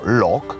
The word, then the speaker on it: loch: Zresztą niektórzy wymawiają to Loch.